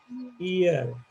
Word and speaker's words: ear: Whereas if you hear an American speaker of English, you will find he or she pronouncing it as ear.